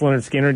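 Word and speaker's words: Lynyrd Skynyrd: mean those original out the pronounced Leonard skinnard you had Freebird on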